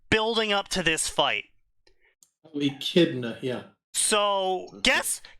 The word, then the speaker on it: Echidna: So he was building up to this giant fight where Enchinada, or however they fucking say her name, Echida? Enchilada. And Enchilada, Yeah, Echidna? Echidna, sure, Echidna.